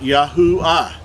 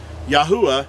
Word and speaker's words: Yahuah: as the second but being at the it's at the end of a word or a name it makes the ah sound so his name would be pronounced yahuwah yahuwah is how we were